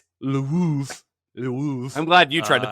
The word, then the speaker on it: Lwów: It's spelled Lwow. Which is not pronounced Lwow, which it should be. It's Lwów.